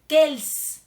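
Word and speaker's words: quels: que el que él casi todo se pronuncian igual porque no pero se escriben diferente ahí les va cuando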